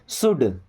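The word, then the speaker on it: should: है कितना देना है शुड यहां पे एल साइलेंट है ना शुड नहीं शुड शुड का मतलब चाहिए आई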